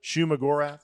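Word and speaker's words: Shuma-Gorath: Now, I will say, again, I'm more of a DC guy, so I was not familiar with, how do you pronounce it? Shuma Gorath.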